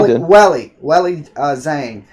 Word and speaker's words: Weili Zhang: Now we got Weili Zhang. Did I say her name correctly? Yeah, Weili Zhang.